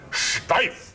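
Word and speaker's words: Steiff: Steif. You got to say it like you're going to invade France, you know?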